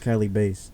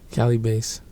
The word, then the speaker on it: Calibaset: __ ] wrong after that but yes it's pronounced Cali Bas Cali Bas okay before we get more into this bro